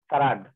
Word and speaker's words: farad: सर ये F का pronunciation क्या है? Farad.